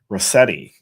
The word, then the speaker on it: Rosette: my family comes from, I think it's actually pronounced Rossetti or with a soft S.